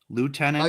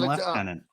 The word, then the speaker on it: lieutenant: Those are both proper pronunciations. Lieutenant and left tenant. I just looked it up. I never heard the left tenant version.